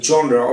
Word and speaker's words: genre: Genre, এটা pronunciation করবে হচ্ছে genre. Genre কেন করবে? কারণ এটার অরিজিনাল আইপিএ ইন্টারন্যাশনাল ফনেটিক্স হচ্ছে জনরা।